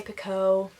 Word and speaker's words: Picoult: I said Picoult in a previous video, and then I noticed that most people were not pronouncing the LT at the end, so I'm just going to say Picoult.